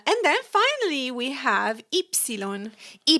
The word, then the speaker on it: ipsilon: Uh and then finally we have ipsilon.